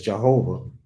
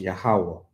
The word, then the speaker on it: Jehovah: name right there where you say it says Jehovah is pronounced yahuwah the J and the V and the vowels